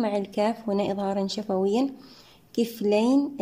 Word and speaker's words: كفلين: يؤتكم نحقق الهمزة، يؤتكم كفلين، الميم مع الكاف هنا إظهارا شفويا، كفلين الياء ساكنة قبلها مفتوح حرف لين في حالة الوصل، أما في حالة الوقف مد لين يمد بمقدار حركتين أو 4 أو 6 حركات.